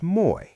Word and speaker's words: Moi: The most common word is Moi. Mnemonic: Think of a sailor shouting "Moy! Ahoy!" to a friend.